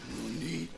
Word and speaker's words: nani: You don't say nanny, you say nani.